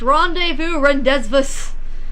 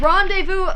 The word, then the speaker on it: rendezvous: It just never occurred to me that the word I was reading and the word I heard other people say were the same word. Because they're spelled so differently from how they're pronounced.